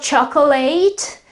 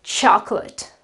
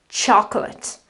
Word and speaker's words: chocolate: The accent with this apostrophe here shows us that the syllable that basically carries the accent is the first syllable, so the O that becomes a sort of an so it is chocolate, chocolate.